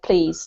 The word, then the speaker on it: please: Um, don't forget that the pronunciation is please, Raphael, just exactly the same as the word please, like yes, please.